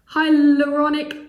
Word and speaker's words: Hyaluronic: This is the Ordinary Hydrated and Oils Hyaluronic Acid.